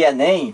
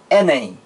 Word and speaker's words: Enem: eu digo assim ó Enem eu não digo é n é m não eu digo Enem Olha aí eu pronuncio